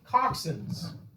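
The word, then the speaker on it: coxswain: water and they are actually captained captained by toxins c-o-x-s-w-a-i-n pronounced toxin it's kind of like focusing right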